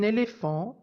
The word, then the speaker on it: éléphant: la la même famille par exemple un éléphant est un mot de la même famille que le mot éléphanto dans lequel j'entends le T qui était mué dans